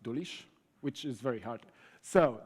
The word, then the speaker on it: Dulisz: It's also spelled, pronounced Dulisz, which is very hard.